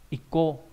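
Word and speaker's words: 個: Âm onyomi là cô, ví dụ trong từ ikko chữ nhất, và chữ cá nghĩa là một cái, một viên, dùng để đếm vật nhỏ dạng khối.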